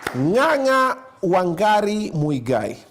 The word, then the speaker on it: Ng'ang'a Wangari Muigai: Ng'ang'a Wangari Muigai.